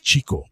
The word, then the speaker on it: Chico: Sí, es Chico, porque Leonard, su hermano, escribe que él perseguía a las chicas, a pesar de la ortografía final. Si lo llamabas Chico Marx, lo estabas pronunciando mal.